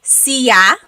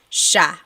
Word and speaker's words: siya: Another thing I want to point out about the word siya, the S-I-Y combination makes a sh sound. Sh, sh, sha. Some regions in the Philippines pronounce it siya, siya, but usually it's like in the central Luzon area, it's pronounced sha.